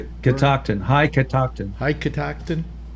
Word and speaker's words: Catoctin: Catoctin. CATO. Catoctin. Yeah, there you go. Thank you. How's that Yeah. pronounced? Catoctin.